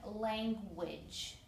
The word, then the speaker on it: language: The word language has two syllables, but right over here, the end part, the G sounds more like a J. So I did some phonetic spelling. Lang is fine. Lang, which, it sounds like W-I-J. So it's sign language.